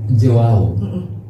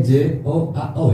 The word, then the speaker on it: Joao: Joao. Hurufnya J-O-A-O ya? Iya. Bacanya juga seperti itu ya?